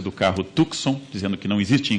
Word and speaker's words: Tucson: Nunca direi Tucson de novo, como as pessoas comuns, a gentalha fala pela rua, Tucson. Eu direi Tucson. E cada vez que eu comer este C e der essa guspida discreta, Tucson, eu lembrarei que havia